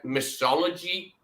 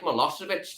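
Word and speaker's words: Milošević: he couldn't pronounce Milosevic. He said mythology. I mean, where he got that from, I'll never know. Like, 'cause it doesn't sound anything like Milosevic to me.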